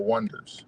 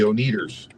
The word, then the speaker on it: Oneders: But they wanted to spell it ONE. And it's like, and they had one hit. But it was the Oneaters. Everybody said, now the Oneaters. Because ONEDERS looks like it spells Oneater.